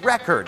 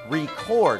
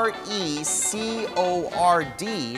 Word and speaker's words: record: เมื่อกี้เขาบอกว่า it starts to record นะครับจริงๆต้องออกเสียงว่า it starts to record เพราะว่าคำว่า r e c o r d ในประโยคนี้ก็เป็นคำกริยานะครับแล้วถ้าจะสื่อความหมายว่าอัดเสียงหรือว่าถ่ายวิดีโอเนี่ยก็จะออกเสียงว่า record นะครับโดยที่เน้นพยางค์ที่สองนะครับ record เช่น let's record a videoLet's record a video.